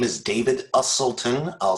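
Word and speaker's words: Uselton: hi thank you my name is david usulton i'll spell that last name for you u-s-e-l-t-o-n i have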